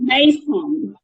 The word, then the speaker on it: Meysam: course, I You was must thinking, be Meysam. yes, of Yeah? course. Exactly. How do I pronounce your name?